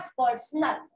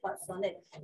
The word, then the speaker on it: personnel: लिखा है, ठीक है, इट्स नॉट पर्सनल, it's personnel, whenever you use this term it referring human resources, बहुत सारे लोगों के लिए हम use करते हैं personnel, इसीलिए HRM को तुमने